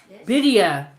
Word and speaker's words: birria: She said birria is pronounced bidia. The R's make a D sound.